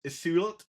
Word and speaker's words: Ísold: Yeah, so Lady Ísold is that how it's pronounced? Because I'm going to go, yeah, it is Ísold.